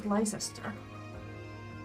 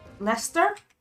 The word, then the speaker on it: Leicester: Powers now exist in relative Harmony it was licester well it's Lester that's intriguing interesting way to pronounce it this will be your first time